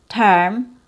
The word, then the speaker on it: term: So we don't want to say je, germ, te, term, or me, merge. So it's not a short E sound, it's a schwa+r.